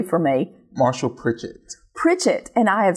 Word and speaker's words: Pritchett: Marshall Pritchett. Pritchett, and I have said Pritchard and Pritchett.